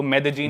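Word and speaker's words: Medellín: एक सिटी है मेदजीन स्पेलिंग में उसमें डबल एल आता है मेदलीन होता है लेकिन कोलंबियन स्पैनिश में ल को ज बोलते हैं तो मेदजीन वो शायद उसकी मेन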